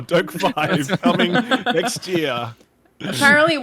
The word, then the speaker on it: DokeV: Dokev? Dokev? yeah. Dokeve? Dokev or Dokev? Doke 5. They wrote out how to say it. It's like Doke five.